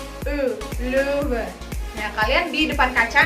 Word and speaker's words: Löwe: E, Löwe. Nah, kalian di depan kaca nanti masing-masing latihkan. Bibirnya udah bener belum? Rahangnya udah bener belum? E, ya. Jadi huruf O umlaut itu dibacanya E. Der Löwe.